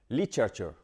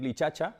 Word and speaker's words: literature: en Feng English y la pronunciación sería literature, literature, ¿vale? Lichaochor. La tendencia natural del español sería decir lichacha y no es lichacha, pero casi, porque tenemos ahí varias sílabas que se comprimen.